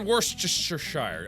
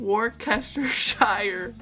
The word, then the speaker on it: Worcestershire: Worcestershire. That was one of my pronunciations. Worcestershire? No. Understand this, but okay. No, that was wrong. Worcestershire. Subscribe. Worcestershire.